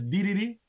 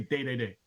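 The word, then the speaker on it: Dedede: But there's people who fucking say his name like it's DDD, but some jackasses in the community say Day Day Day.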